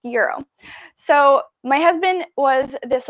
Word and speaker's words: gyro: i believe it's pronounced euro gyro g-y-r-o i think it's pronounced euro so my husband was